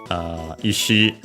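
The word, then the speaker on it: 石: Yeah, combines the two kanji, one for boulder, the other one for rock, Iwa, respectively, and Ishi, both accent on the last mora on their own as the strictly Japanese readings.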